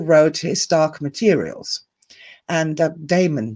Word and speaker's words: daemon: his dark materials and damon damon voices not demon voices demon voices spelled with a d-a-e-m-o-n and it is supposed to be the greek meaning but any english speaker that hears that any german speaker who hears that will think immediately demon voices and they will